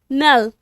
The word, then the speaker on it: knell: नल, इसका के साइलेंट है, इसको क्या प्रोनाउंस करेंगे? नल।